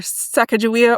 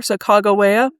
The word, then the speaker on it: Sacagawea: public legend of either Sacagawea or Sacagawea? The common pronunciation is Sacagawea, but Sacagawea is the way that I have heard it most recently pronounced by a native speaker.